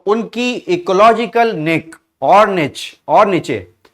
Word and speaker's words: niche: कुछ लोग इसको बोलते हैं निक और कुछ लोग इसको बोलते हैं निच, राइट, बट स्पेलिंग सही होनी चाहिए, राइट।